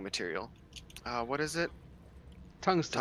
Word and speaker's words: tungsten: Tungsten. Tungsten? Tungsten. Yeah, tungsten. Don't pronounce the G, just like tungsten.